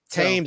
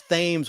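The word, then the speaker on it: Thames: Tames. I always thought it was ths when I was a kid, but it is Tames. The H is silent in British. BBC BBC TV. Well, it's actually Tim's.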